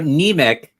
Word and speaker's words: Niemiec: So Niemiec, like anemia.